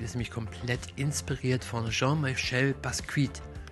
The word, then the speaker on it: Jean-Michel Basquiat: Und der Grafikstil ist nämlich komplett inspiriert von Jean-Michel Basquiat. Ich denke mal, da es ein französischer Künstler ist, dass das ungefähr die korrekte Aussprache sein wird.